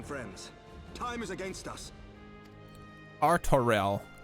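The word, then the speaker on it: Artoirel: Artorel. Good. Now that I've heard it in-game, I can pronounce it properly.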